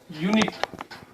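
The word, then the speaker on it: unit: हालांकि ये शब्द इंग्लिश के तो यू से शुरू हो रहा है, ए ई आई ओ यू से शुरू होता है, लेकिन जब हम इसका उच्चारण करते हैं तो ये य से आता है। इसका उच्चारण य से आता है, यूनिट।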